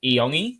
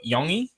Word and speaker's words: Iongi: I've just recently heard that the pronunciation of his name is Iongi or Yongi.